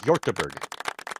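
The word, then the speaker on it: Hjortebjerg: gber yber pretty much it it's a silent J yber yeah Chris got it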